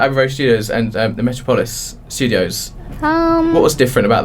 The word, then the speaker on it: Metropolis: So what's so different about Abbey Road Studios and the Metropolis Studios? What was different about those ones? Because I don't know much about the Metropolis. Is it Metropolis? Is that Metropolis, yeah.